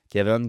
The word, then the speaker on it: Keaven: Kevin comme Evan, ça s'écrit K-E-A-V-E-N.